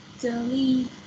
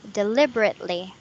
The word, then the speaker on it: deliberately: Is deliberity. Uh huh. Yes. The pronunciation is deliberately.